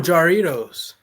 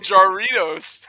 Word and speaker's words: Jarritos: Oh, Jarritos. Yeah, but it's the J's Yeah, pronounced you know. H.